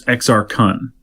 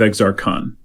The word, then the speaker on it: Exar Kun: long time ago, and the guy who read it, I remember this, pronounced it Exar Kun. It's E-X-A-R-K-U-N. Kun. I think it's Exar Kun, but he said Kun. Exar Kun. So, I don't know, you tell me what you like better.